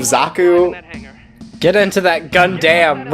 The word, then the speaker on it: Zaku: of like bad romanization they say zach instead of Zaku get into that gun